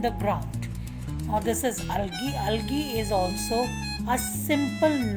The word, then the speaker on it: algae: these two are mosses and alky learn to pronounce this word this is algae mosses are small green seedless plants and where